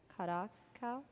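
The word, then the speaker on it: Curaçao: It's a cosmopolitan with a little, I can't pronounce it, Curacao? Curacao.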